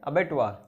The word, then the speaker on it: abattoir: Noun and pronunciation है अबेटुआर, meaning देखते हैं.